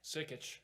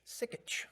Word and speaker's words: Sikich: between sea chick city how do you pronounce that sikich sikich okay sikich llp as the city